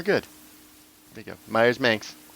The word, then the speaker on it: Manx: Manx rides with Spanx.